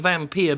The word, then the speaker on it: Vampyr: I'm not sure if it's supposed to be pronounced vampire or vampire, but I'm going to go with Vampyr because it's spelt with a Y, which you can tell